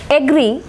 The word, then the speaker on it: agree: In this word, agree, the stress is marked on here. It is a disyllabic word, agree, agree. Stress is marked on the second syllable, agree.